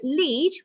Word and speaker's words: lead: two different ways so lead when we say it so it rhymes with seed is something you use